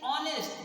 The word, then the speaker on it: honest: use indefinite article, like honest. Here honest, though this one is H, but pronunciation is honest, meaning O is pronunciation,